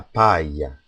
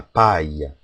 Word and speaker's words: paille: ILL becomes pronounced as a Y. Examples are un maillot de bain, a bathing suit, un maillot de bain. Another example is la paille, straw, la paille.